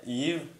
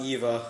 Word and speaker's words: Eve: Oh yeah, Eve? No, it's Eve, not Eva.